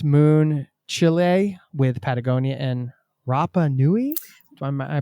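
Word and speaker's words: Rapa Nui: Excited to talk about the book, of course, Moon Chile with Patagonia and Rapanui. Am I pronouncing that?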